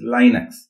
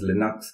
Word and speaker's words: Linux: And also the word Linux is sometimes pronounced as Linux. People pronounce it both as Linux and Linux.